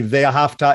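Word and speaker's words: וְאָהַבְתָּ: Obviously, Ve'ahavta is a little bit of a Yiddish pronunciation, but Ve'ahavta, Ve'ahavta.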